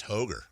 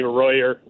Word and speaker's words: Roger: Congratulations, Roger. You know in Brazil, your name would be pronounced Hoger. True story. They don't do the R's. Yeah. Roger. Yeah, they call me Royer.